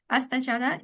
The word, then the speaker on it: Astha Chadha: Uh, Astha Chadha. I hope I will pronounce it better, maybe, but I hope it is fine. The pronunciation is Perfectly fine. fine. Astha Chadha.